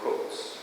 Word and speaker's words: Coates: muy reciente de Ta-Nehisi Coates, o sea, se pronuncia Coates, pero se escribe Coates, ¿no?